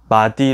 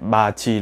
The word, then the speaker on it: 맏이: 마디 로 발음하지 않고 마지 라고 발음합니다. 왜 마디가 아니라 마지라고 하나요..? 골치아프죠. 발음을 할 때 ㄷ과 이의 소리 나오는 곳이 멀어서 보다 가까이 있는 ㅈ으로 쉽게 발음하는 규칙입니다.